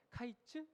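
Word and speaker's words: קיץ: 사실 여름은 히브리어로 카이즈라고 불러요. 여름이요. 끝은 캐츠예요. 그러니까 카이츠. 캐츠 철자와 발음이 모두 다 비슷하죠.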